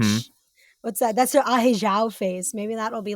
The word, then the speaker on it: ahegao: I thought it was like ahegao or something. No, ahegao. It's, I mean, that's like... That's like sexy Japanese French. Mm-hmm. What's that? That's the ahegao face.